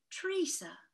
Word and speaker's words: Teresa: terrible things she said tree says she called her with a long e teresa it was a beautiful